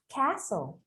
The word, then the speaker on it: castle: The letter T would be something quite similar, okay? But just don't pronounce it. Let's say apostle. Also. Apostle. Castle.